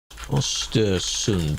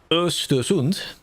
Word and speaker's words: Östersund: Östersund pronounce. I just know they don't say the D. The D sound of that. Östersund. Maybe it is a D. Östersund. Östersund. That one does have a D.